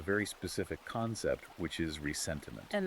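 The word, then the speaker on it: ressentiment: specific concept which is resentiment and that's spelled with an s in the middle right from the French because it's not just the standard English word resentment.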